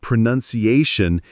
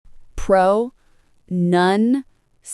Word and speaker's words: pronunciation: The word pronunciation is often mispronounced. I used to say pronunciation. Many people do, but the correct way is prounation. Pro nunation. Yes. Notice it's none, not noun.